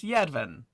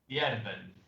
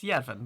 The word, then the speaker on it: Yedvin: It is Yedvin. Yervin. No. Did I mispronounce it? It's Yedvin, yes.